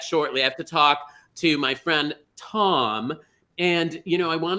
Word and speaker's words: Thom: I have to talk to my friend Tom, and I want to say Thom, but I bet is the H silent, Thom? It is silent, yeah. So it is Tom with an H.